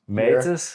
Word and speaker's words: Matas: Matas, yeah, that's how you pronounce it also in Danish.